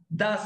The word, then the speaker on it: doesn't: punto y me surgen doesn't esto se pronuncia das el ok y aquí